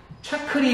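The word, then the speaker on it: จักรี: 수립해서 오늘날의 타이 왕조가 짜그리 왕조가 되겠습니다. 차크리 왕조라고 그래요. 차크리 왕조. 그래서 얘네 발음을 좀 많이 따라가면 짜그리 왕조라고 그래요.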